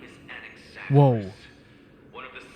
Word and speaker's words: Anaxagoras: So the name is Anaxagoras. Let me hear the pronunciation again just so I can get it right for you. My name is Anaxagoras.